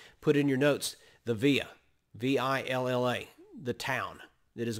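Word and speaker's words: villa: the last part put in your notes the via v-i-l-l-a the town that is going to be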